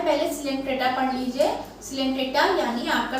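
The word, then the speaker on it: Coelenterata: और most of द सिलेंट्रेटास क्या होते हैं, उसको सिलेंट्रेटा ही पढ़ते हैं बेटा, उसको जो प्रोनाउंसिएशन होता है वो सिलेंट्रेटा होता है।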